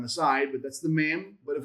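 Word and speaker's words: מ: Mem. That's your mem. That's your M sound.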